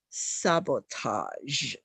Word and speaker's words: sabotage: next word is sabotage you would pronounce it as sabotage because it's a French word it means that you